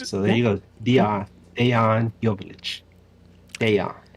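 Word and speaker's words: Dejan Joveljić: How'd you pronounce his name again? Dejan Joveljic.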